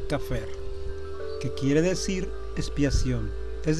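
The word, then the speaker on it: כפר: Pie izquierdo, de derecha a izquierda, se lee Kaf, Pep, Reis. Se pronuncia Kafer, que quiere decir expiación,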